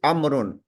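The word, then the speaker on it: عمرو: The proper noun amrun is written with a vowel which is not pronounced. We have added an extra vowel with the proper noun of amrun. Why we did this? This vowel we don't pronounce. This is done to differentiate it from the umaru. Amrun and umaru, they look similar. So that's why we added an extra vowel in the amrun.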